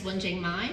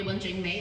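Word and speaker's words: Wenjing Mai: My name is Wjing Mai. You call me Wanjing May as well. Yeah, that works too.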